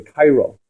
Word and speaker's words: Caro: So people like the Arizal, Rabbi Luria, people like the author of the Shulchan Aruch, Rabbi Cairo, right? It's spelled Karo or Caro.